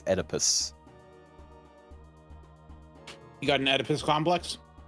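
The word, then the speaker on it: Oedipus: E's are really weird well it's Greek so yeah well I mean it's not o oadus it's edus you got an edus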